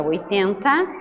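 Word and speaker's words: eighty: exemplo, 80, que é 80, e 18, que é 18. Perceba como a primeira sílaba é tônica nos números com T, com final T.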